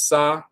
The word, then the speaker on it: sa: So it's s ah. But then you have the two determinative symbols that are not spoken.